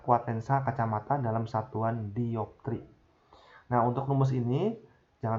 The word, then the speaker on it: dioptri: D ini dibacanya dioptri ya, satuan dari kuat lensa.